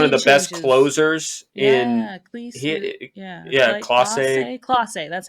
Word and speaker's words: Clase: Yeah, Volpe came out in the 9th, got a double, RBI double against one of the best closers in Clase.